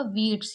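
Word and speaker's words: wheats: we sides यहां पर याद रखिएगा डब्लू एच कहीं पर भी होगा और उसके बाद अगर ई होगा तो हम किसको नहीं पढ़ेंगे एच को नहीं पढ़ेंगे तो यह क्या होगा वीट्स यानी कि गेहूं राइस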